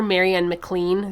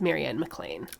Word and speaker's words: Marianne MacLean: from our first episode i called her marianne mclean through the whole first episode and i've been informed by a friend of the podcast that the proper scottish pronunciation of her name is it's marianne maclean ah gotcha there you